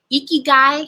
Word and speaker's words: ikigai: Ikigai, has anyone ever heard of that term? Ikigai. It's a Japanese term. It's spelled Ikigui.